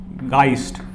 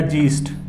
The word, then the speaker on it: Geist: German word हुआ है वो है गाइस्ट या जीस्ट, राइट। गाइस्ट हम लेके चलेंगे इसकी प्रोनाउंसिएशन।